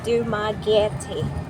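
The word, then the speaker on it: Dumaguete: Cuz I hate I mispronounc Dumagetti. It spells Dumagetti. D U M A G U E T E. Dumagetti.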